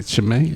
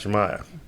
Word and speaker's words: Chimaev: I can't even say Shimei. How you say his name? Kazmat Chimaev.